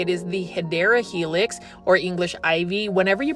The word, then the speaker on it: Hedera helix: They're kind of like the Hedera helix, or the correct way to say it is the Hedera helix, or English ivy.